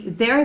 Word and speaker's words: they're: car you can say they're there you can say for example this sentence here uh there there in their car yes they're there in their car yes it is same pronunciation different words they're there in their